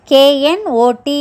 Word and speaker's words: knot: KNOT, not. NOT, notனா இல்லைன்னு அர்த்தம். KNOT, notல K silent, அதையும் நாட்னு தான் சொல்லணும். அதுக்கு முடிச்சின்னு அர்த்தம்.